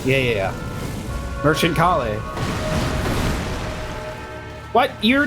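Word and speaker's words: Kalé: I've just been saying kale like the vegetable.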